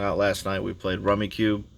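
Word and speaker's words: Rummikub: We played Rummy Cube. Or it says Rummy Cube, but there's no U-E at the end, so it's like Rummy Cub. I think that's how it should be pronounced, but hey, I didn't create the game.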